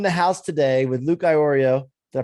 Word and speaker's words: Iorio: And I'm in the house today with Luke Iorio. Did I pronounce that right, Luke?